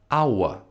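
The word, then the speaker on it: our: Ауа. Тя се произнася точно както думата час.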